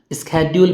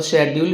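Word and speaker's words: schedule: स्केड्यूल भी बोला जाता है और शेड्यूल भी बोला जाता है. The difference is about the pronunciation between American and British.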